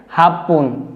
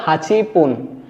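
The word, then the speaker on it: 八分: রুপন মানে ছয় মিনিট আট মিনিটের ক্ষেত্রে হবে হাফপন এমনিতে উচ্চারণটা ছিল হাচিপুন কিন্তু হাচিপুন না হয়ে হবে কি হাফ যুক্ত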